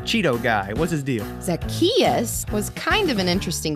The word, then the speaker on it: Zacchaeus: Zacchaeus. Zachachusa. No. Zazachino. What? No, it's like Zach. Just say it after me. Zacchaeus.